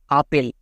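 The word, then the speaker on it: apple: এর জন্য লো আর শেষে ই থাকলে তার উচ্চারণ হয় না তাহলে কি হলো আপন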